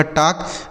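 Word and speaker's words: talk: देखिए यहां L silent है। मतलब इसको नहीं पढ़ा जाएगा। और के से हो गया क। ऐसे पढ़ा जाएगा टॉक।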